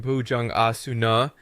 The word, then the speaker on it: Bhujangasana: Then we have Bhujangasana, the cobra pose, which sounds like Bhujang Asuna, and last but not least, Shavasana, corpse pose, which sounds Shavasuna.